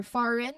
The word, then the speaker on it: foreign: Similarly, for foreign, the G is silent before the N at the end, and we have also rain.